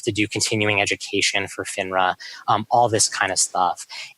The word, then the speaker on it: FINRA: that I've read about is it would you pronounce it FINRA FINRA yeah the Financial Industry Regulatory Authority because they've